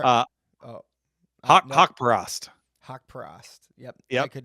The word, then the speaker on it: Haqparast: I have his name spelled phonetically here. Hesper. Nope. Nope. Haqparast.